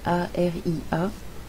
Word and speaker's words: Aria: tu peux me trouver sous le nom d'Aria, A-R-I-A, et Cœur Sage, comme ça se prononce.